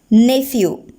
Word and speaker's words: nephew: Here also the letters P and H is pronounced as first sound, nephew.